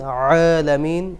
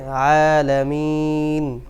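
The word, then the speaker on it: العالمين: না রব্বিল রব্বিল আলামিন আইনকে একটু পাতলা করে উচ্চারণ করতে হবে অনেকে আইনে চাপ দেন আলামিন এটা ভুল আইনকে হালকা করে নরমভাবে আদায় করতে হবে। আলামিন আর রহমানির রাহিম মালিক ইউমিদ্দিন।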